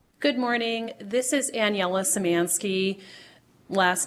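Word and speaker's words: Szymanski: and go ahead good morning this is annela samansky last name is spelled s z y m an ski bar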